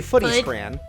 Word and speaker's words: footy scran: Oh my god, is that how you say it? Yeah, you say footy scran.